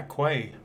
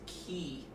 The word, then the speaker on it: quay: be what way yeah quaid it's pronounced key I've got this key